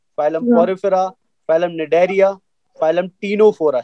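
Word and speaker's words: Ctenophora: तो first phylum is phylum protozoa, phylum Porifera, phylum Cnidaria, phylum टीनोफोरा। C silent रहेगा और टी से शुरू करेंगे। कुछ बच्चे इसको स्टेनोफोरा बोलते हैं, तो स्टेनोफोरा कोई वर्ड नहीं है बेटा, टीनोफोरा है।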